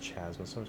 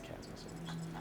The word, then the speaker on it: Chasmosaurus: Oh, it says Chasmosaurus, but I think it's Chasmosaurus. Pretty sure the H is silent.